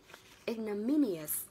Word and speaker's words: ignominious: Để nhớ cho mình nhé, từ tính từ của từ ignominy đó chính là ignominious. Ignominious, chọn ngôi từ mi nhá, ignominious.